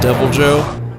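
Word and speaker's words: Deviljho: a devil Joe and I was convinced that there was a second eye in here and it was supposed to be pronounced with like a Spanish flair like did but I was wrong and amber and Cody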